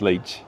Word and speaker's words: leite: Um it would be pronounced leite in Brazil.